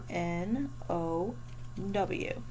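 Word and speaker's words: know: number 14 we're going to spell no k n o w now just this is no but we also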